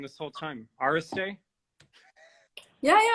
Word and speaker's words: Iristay: I've been saying your last name wrong this whole time. Iristay?